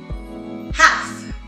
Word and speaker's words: half: Half. La L no suena.